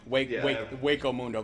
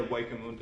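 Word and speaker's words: Hueco Mundo: Waco Mundo. The H is silent. Yeah, Waco Mundo.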